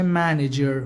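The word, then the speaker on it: manager: کشیر و مدیر میشه منجر منجر یعنی مدیر منیجرم خیلی نگیدا منجر اینطوری میگن منجر منجر یعنی مدیرجر میتونم با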